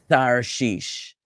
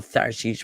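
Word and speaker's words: תַּרְשִׁישׁ: The Yemenite Jews will pronounce this letter as a th sound. So for Yemenites, this will be Tarshish. But either way, it's a softened version of the taf sound. Okay, so Ba'a Tarshish or Ba'a Sarshish or Ba'a Tharshish, whatever is your preferred pronunciation.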